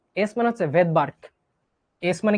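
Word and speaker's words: Svedberg: এস মানে হচ্ছে ভেদবার্কটা সুনামির মধ্যে যেমন টি উজ থাকে নিউমোনিয়াতে যেমন পি উজ্জ থাকে সাইলেন্ট থাকে এরকম ভেদবার্কে এসটা উজ্য থাকবে এটা কি ভাইয়া ভেদার্ক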